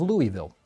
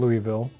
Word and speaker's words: Louisville: lot of time in that city about the pronunciation of the wonderful city of Louisville. Which apparently is not called Louisville.